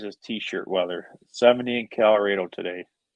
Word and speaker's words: Colorado: t-shirt weather 70 in calrado today i know it's spelled colorado or said colorado do you ever see that guy i got a chevy silverado that's why i say calrado you're putting the 71